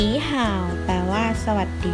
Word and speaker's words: 好: ไป คำ ที่ สอง คำ ที่ 2 อ่าน ว่า ห่าว ห่าว ห่าว แปล ว่า ว่า ดี